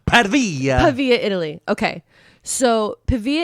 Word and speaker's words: Pavia: It's pronounced Pavia.